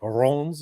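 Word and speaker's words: Reims: Is it Rons, as you were saying, Tom?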